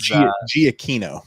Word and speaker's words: Giacchino: Michael Giacchino is Giacchino.